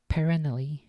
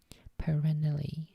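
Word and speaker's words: Perenelle: a quiet life in Devon with his wife perennally 658 no that's how that's pronounced perennially p-e-r-e-n-e-l-l-e perennille I assume that's how it's How It's pronounced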